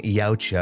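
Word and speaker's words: Yautja: And lastly, the official trailer for Predator Badlands just dropped, showing our young Yaoucha. I had to look that up, how to pronounce it, budding up with Al Fanning's Wayan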